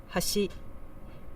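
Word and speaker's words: 橋: on the first Mora Hashi meaning Bridge with an accent on the second Mora has she meaning edge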